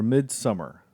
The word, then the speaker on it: Midsommar: talk about midsomar or mid-summer but it's it's it's spelled somar but it's just mid-summer omar somewhere summer i